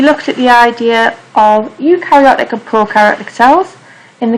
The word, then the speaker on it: eukaryotic: those will be clustered eukaryotic cells because they contain a nucleus and a helpful way of remembering that is think the start of the word eukaryotic is pronounced like you and think you are